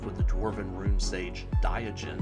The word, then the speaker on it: Diogen: And then we round off with the Dwarven Rune Sage Diogen. I believe that's a soft G.